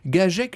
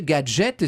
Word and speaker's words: Gaget: distribuées par la société gaget gauthier gajek les américains prononcé gadget c'est l'origine du mot